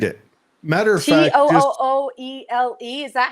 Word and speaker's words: Tooele: Matter of fact, just Tooele. Is that how they pronounce it?